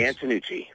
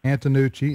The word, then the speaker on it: Antonucci: How do you pronounce it, Vince? Antonucci. Antonucci, Antonucci.